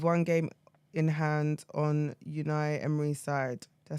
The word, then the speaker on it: Unai: Aston Villa with one game in hand on unai emry side did I say his name right yes unai yes are you sure yes for Chelsea they